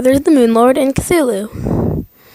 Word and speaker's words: Cthulhu: There's light and there's darkness, or there's the Moon Lord and Cthulhu. I know that's not how Cthulhu is officially pronounced, but that is how I'm going to say it.